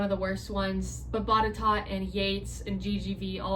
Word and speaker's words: Botetourt: then you have Botetourt, which sounds like Bordeaux if you read it the way that it's spelled out, but it's actually Botetourt, and people just call it Bot.